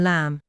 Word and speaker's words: lamb: The letter B is silent at the end of words such as comb, dumb, numb, tomb, climb, womb, and lamb. It is also silent in words such as doubt, subtle, debt, and debtor.